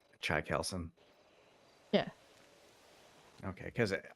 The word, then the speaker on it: Chaikelson: Uh Chai Kelson. Say that again. Chai Kelson. It's like chai as in chai tea and then Kelson. Chai Kelson.